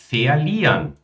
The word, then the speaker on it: verlieren: Verlieren. Lösung. So hast du eine Chance, den anderen nicht ganz zu verlieren. Verlieren, agora ela pronunciou esse R aqui de fato, né?